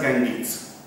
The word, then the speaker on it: Ganges: Now we have name as Ganga, but in English it is pronounced as Ganges.